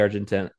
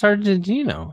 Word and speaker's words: Argentino: the murder of Nancy Argentina I've I'm bad at pronouncing her last name but his his girlfriend who was Argentina Argentina Argentina I let's go with that um it's Argentino okay Argentina so I think